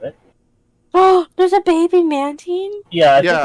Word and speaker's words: Mantine: or Mantane. Mantine. Maintain. It has to maintain. It's Mantine and it's Remoraid.